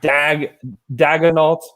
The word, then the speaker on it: Daigneault: Daigneault. Say it again, Andrew. So what? Daigneault. Now you're saying that sounds like D-E-G. Daigneault. Daigneault. I was thinking Daigneault. No, not Dag. That's not Dag.